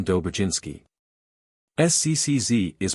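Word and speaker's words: Dobrzyński: or French J thus the proper name of dobrinski is pronounced as if written Dober jinsky SC ccz is pronounced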